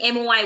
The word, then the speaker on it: moi: Similarly, M-O-I will be, yes, you're absolutely right, moi.